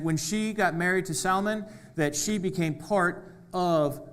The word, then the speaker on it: Salmon: was a man named Salmon. Not Salmon, that's the fish. This is spelled differently. It's salmon.